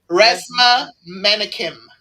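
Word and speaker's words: Resmaa Menakem: if you can pronounce the author's name, it's Resma Menakim.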